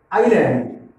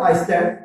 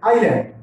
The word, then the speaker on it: island: Tea garden, tourist spots, waterfalls, waterfalls, island, Iceland, not Iceland, island. Here S is silent.